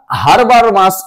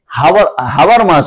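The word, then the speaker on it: Habermas: দেখব যে এই জন হারবার মাস এখানে যেটা বলছে এটা কিন্তু দুটো ভাবে উচ্চারণ হয় অনেকে হারবার মাস বলে আবার অনেকে হারবার মাস বলে দুটোই কিন্তু ঠিক এক্সামে যেটা আসবে সেটাই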